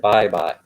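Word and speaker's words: Baybay: bye bye city leyte that's bay bay but they pronounce it bye bye and so that's the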